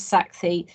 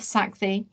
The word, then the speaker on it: Sakthi: welcome dr saxi karuna i did check out the pronunciation i hope that's near enough saxi and who's director of